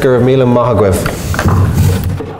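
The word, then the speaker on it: Go raibh míle maith agat: Is the Irish for thank you. It's pronounced Gurmila Mahagwev.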